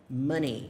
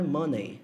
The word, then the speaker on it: money: To donate, que significa doar, e aí a palavra money, que significa dinheiro. Cuidado com a pronúncia dessa palavra aqui. Não é money, não é money, é money, money. Esse EY no final eu falo I, então fica money, money, não money.